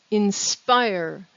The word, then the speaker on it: inspire: inspire in the question inspire the stress is on the second syllable the next word in